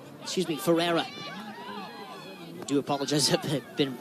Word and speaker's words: Ferrara: Jennings getting in a tussle here with McKenna Ferrara excuse me Ferrara do apologize have been mispronouncing that game name tonight and the offside